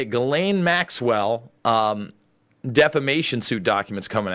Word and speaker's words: Ghislaine: Ghislaine Maxwell defamation suit documents coming out.